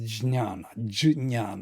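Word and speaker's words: jñāna: Usually you say gyan in India. But it is jnana, yes, difficult to pronounce.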